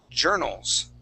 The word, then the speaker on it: journals: on is the word journals journals journals journals so that o Ur there is going to sound more like an R sound J journals journals Journal